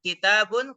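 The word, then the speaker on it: كِتَابٌ: Z tanwin babun kemudian kitabun kafnya di kasrh tanya di fathah kemudian ada Alif dan huruf bnya di D tanwin kitabun kemudian qolamun qofnya di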